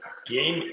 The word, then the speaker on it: Gain: Gain is pronounced like gaining, not gain ventures, not gate ventures.